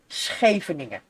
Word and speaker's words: Scheveningen: But because of the SCH pronounced after each other as a loud G, the German people cannot pronounce that G because it's not in their language. Oh, that explains a lot. So they say Scheveningen. Like a K. Scheveningen. They cannot pronounce it. Well, it sounds very different. It is indeed different. So they try to basically pronounce the G, but they can't.